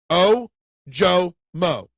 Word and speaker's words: Ojomo: You're going to hate me for this, but the Nigerian pronunciation of Jomo is O-Jo-Mo. Isn't that what I say, Ojomo? Maybe I pronounced that middle O a little wrong.